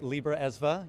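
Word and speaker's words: Libraesva: Yeah, there is a lot of history around that, and thank you for pronouncing it correctly, Libra ESVA.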